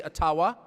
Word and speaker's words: Ottawa: It cannot be taken from you no matter who is in Ottawa, or as we say, Ottawa, which, by the way, is the correct pronunciation according to my friends in the Ojibwa community.